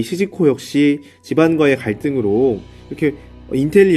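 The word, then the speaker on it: 静子: 정자는 일본 발음으로 시즈코라고 하는 여성입니다.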